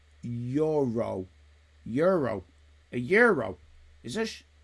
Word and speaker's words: gyro: being skilled skilled from Heidi uh gyro is pronounced Euro Euro a euro is it Euro hello boss